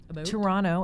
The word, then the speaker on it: Toronto: Well, I did grow up in Toronto, Canada. Toronto, as we say. We don't pronounce that T. In Toronto, Canada.